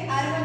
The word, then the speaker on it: árbol: mayor golpe de voz está en la última sílaba. Árbol también posee dos sílabas y también tiene acento.